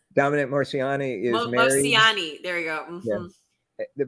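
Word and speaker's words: Moceanu: So we did Shannon Miller, Dominique Makino. I can never pronounce that one right.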